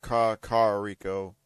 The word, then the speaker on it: Kakariko: Actually, there's one more of us, but he's going a little research, or actually doing a little research in Kakariko village, or Kakariko is the actual pronunciation.